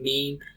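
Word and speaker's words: meem: You can spell it. Okay. Meme.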